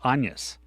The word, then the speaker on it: Agnes: So an Agnes except they didn't pronounce it Agnes in the movie. It was more like Anus and so which I